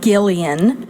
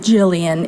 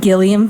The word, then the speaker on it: Gillian: tried gone girl and she is pronouncing it correctly it is Gillian yes even though it looks like Gillian it's Gillian Flynn and she has corrected